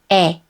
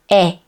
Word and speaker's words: 에: 에. Again, we do not pronounce the 2 sounds separately. It is one vowel sound. 에. 에.